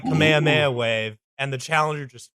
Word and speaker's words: Kamehameha: Shaman sensei tries his like Kamehameha wave, and the challenger just fucking plays chin music. I think it's pronounced Kamehameha. I'm Hawaiian. There's a royal king. I know. King Kamehameha.